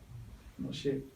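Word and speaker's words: משה: Comme ça, dans Moshe, ça s'écrit Mem, Shin, He. Moshe. Ce He-là, il ne se prononce pas comme une consonne.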